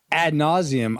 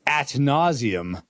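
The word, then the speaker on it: ad nauseam: For instance, like, let's see, ad nauseum, I always thought was at nauseum, like you were going to throw up if you kept saying and repeating stuff.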